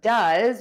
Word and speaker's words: does: For does, which means to perform, we are going to add that short uh sound. You can see my mouth is relaxed, my tongue is relaxed, and that vowel just puffs out.